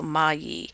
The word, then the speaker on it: Magli: so many different ways moli or Magi but it's uh the G and the L are silent so mayi so you can sound